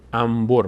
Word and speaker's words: انبر: مثال‌های دیگری هم حتماً انبر مثلاً انبر انبر این که برای چیز استفاده میشه بریدن سیم این‌ها استفاده می‌کنن انبر نمیگیم انبر انبر میگیم نون ب وقتی پشت سرم بیاد میم تلفظ میشه عین همین قاعده در